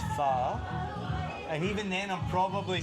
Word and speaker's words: Phở: It's not pho, okay? If I hear one more tourist call it pho, I'm gonna lose my shit. It's pho.